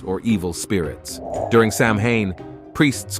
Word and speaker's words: Samhain: Trace back to the ancient Celtic Festival called Sam hay pronounced Sinn celebrated on October 31st the Kelts lived in